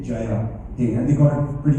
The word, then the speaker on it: Jaya Hai: got the exact pronunciation because the UK tongue goes to Jaya Hai. That's what they normally do. So I had to tell them that it's more like a J-U-Y-A, Jaya Hai, and they got it pretty much immediately.